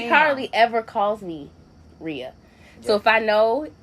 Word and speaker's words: Ria: I'm just one syllable. You Oh, know, that's funny. not gonna work. That's is funny. not gonna Rhea.